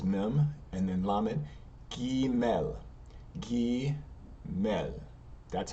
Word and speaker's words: Gimel: So if we keep going forward, Gimel, G represented G in English.